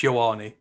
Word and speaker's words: Ioane: It is correct that no one uses his full name, Aleva Vega Ioane, but it's Ioane.